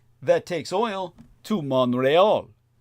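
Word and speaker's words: Montréal: that takes oil to Montreal, in its proper French pronunciation.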